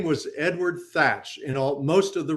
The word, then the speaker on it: Thatch: have been pronounced as touch so both teach and thatch were both pronounced the same way as touch the other pronunciation that